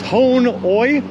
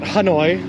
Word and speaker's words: Hanoi: and that's it i'm trying to be uh very clear with my pronunciation that it is hon oi not hanoi jars of the payment